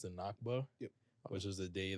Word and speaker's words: Nakba: Which is the anniversary of, I believe it's pronounced the Nakba.